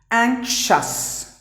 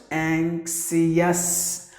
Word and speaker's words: anxious: And the next word is anxious, not anxious. Just because there is IOUS, people tend to pronounce the word as anxious. It should be like this. The letter I and the letter O are silent.